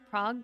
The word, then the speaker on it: Prague: I know it's pronounced Prague.